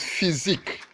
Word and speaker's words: physique: Reckless the answer is physique physique has its stress on the second syllable let's look at this